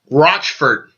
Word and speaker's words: Rochfort: My dear neighbor who taught me how to pronounce her name, Paige Rochfort. Like crotch and then furt.